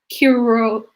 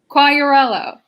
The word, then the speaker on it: Quagliariello: warning coordination meteorologist Curillo. You were so close. There's correct. A lot of silent letters. It's tough. It's tough. Okay, correct me on that one. Quagliariello.